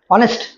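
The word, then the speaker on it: honest: হবে article অনেস্ট ম্যান আমরা জানি এই উচ্চারণ যদি ও এর মত হয় অনেস্ট হবে ওকে সকল নেটওয়ার্কের জন্য কোনটি প্রয়োজন সকল নেটওয়ার্কের জননী কোনটা?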